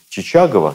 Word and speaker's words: Чичагов: несмотря на все победы Чичагова, и Чичагов иногда называют, оба ударения правильные, на севере войну свели в ничью.